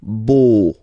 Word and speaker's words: beau: So remember this E, A, U combination of vowels only give you the sound O, beau, beau, okay?